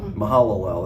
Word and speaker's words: Mahalalel: 70 years he'd fathered meusel LL or you pronounce that uh mahalalel that's it that's right sorry mahalalel uh Kenan